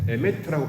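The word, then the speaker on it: אמת: 나아갑니다 모양도 어 우리가 아멘은 아멘의 진리는 아메트 에메트고 발음을 하는데 단어가 똑같고이 아멘을지나 진리로 나아간다 이렇게 설명을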